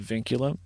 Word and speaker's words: VNCLM: There's another record label I work with a lot called Vinculum. It's spelled VNCLM.